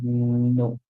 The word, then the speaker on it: know: K and N together whenever K and N goes together the K is silent the N makes a